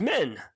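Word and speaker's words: Min: love the character of men yeah i love the character of men by the way but her name is confusing it is because so it is m-i-n and it's pronounced like m-e-n and it's not cool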